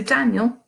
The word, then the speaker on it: Daniel: loudly more fervently than the other part so Daniel two syllables is got two marks the up put